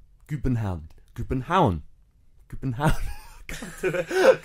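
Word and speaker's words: København: They say, bear with me on this one, Kubenhound. Kubenhound.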